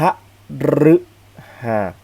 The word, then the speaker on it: พฤหัส: อามอ มา แล้ว ฮิต เรา จะ ออก เสียง เป็น รึ เช่น ครับ พฤหัส นะ ครับ คฤหัสถ์ แต่